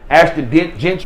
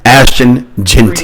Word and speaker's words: Ashton Gentry: man I'm just saying Aston gent my bad for the mispronunciation Ashton Gentry man I if he's